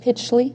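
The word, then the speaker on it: Pichley: I think I said Pley. You did. Pitchley. Yeah, it's Pitch. Pitchley. Sorry. Okay. Pitchley.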